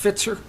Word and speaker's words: Fitzer: Presentation, North Holly Road, we have, is it, he was here, where'd he, oh, Is the last name pronounced Fitzer? Yes, it is.